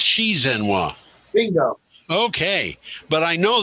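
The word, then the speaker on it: 习近平: The X is pronounced SH. The what? The X in Z is pronounced SH. So it's Xi Jinping.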